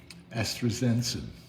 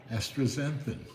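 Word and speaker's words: astaxanthin: renew how do you say it access exanthin astrazenson that's not right either yeah right astrazanthin yeah and um it's the only supplement or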